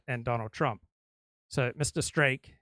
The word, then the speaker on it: Streeck: Streeck, his name rhymes with cake.